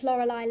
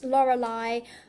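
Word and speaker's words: Loralai: So I actually um I'm an artist under a different name um which is Lauraai. I'm mostly on Instagram at Laurelai. Lauraai is spelled not the correct way.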